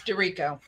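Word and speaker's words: DiRico: under the name maria is it pronounced dorico yes dorico excellent and last but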